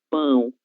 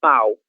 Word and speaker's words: pão: Então, sempre que vocês forem pedir pão, pan, no Brasil falem pão, é um som nasal, ok? Pão e não pau.